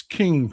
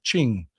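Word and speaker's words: Qing: Oregon Wine Lady, it's King, pronounced Ching. I always thought it was the King Dynasty.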